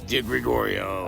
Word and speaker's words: DiGregorio: delivery it's not delivery it's not Douro it's di Gregorio okay okay how do you spell it d i g r e g o